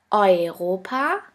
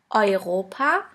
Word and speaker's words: Europa: The next letter combination is EU or EU, which is pronounced like oi. Here we have the example of the word Europa, which means Europe.